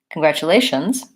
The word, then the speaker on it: congratulations: how to pronounce congratulations so congratulations has stress on the second-to-last syllable so con grat Chu Lai shun and so my stress is here congratulation congratulations and things to watch out